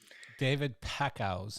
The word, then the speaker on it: David Packouz: David Packouz.